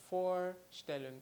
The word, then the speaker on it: Vorstellen: me for still well it's quite easy like the number for which you already know in English and then still look for standard so let's try the pronunciation together for Stalin okay so let's go